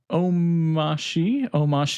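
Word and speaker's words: Omarchy: I did just update Omashi. I'm going to say it like DHH does.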